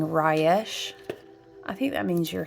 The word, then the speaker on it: Resh: Yeah, it's spelled Resh, but it's pronounced Rayesh.